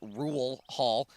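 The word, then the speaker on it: Rural Hall: here in rule Hall that's pronounced rule Hall North Carolina we'll get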